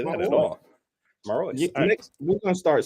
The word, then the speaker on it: Marois: Marois.